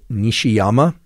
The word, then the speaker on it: Nishiyama: First author is Nishiyama, just as it sounds.